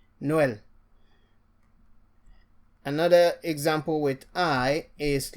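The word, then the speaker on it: Noël: So for E, it still makes you to pronounce the E as E. A good example is Noel, which is Christmas. Noel.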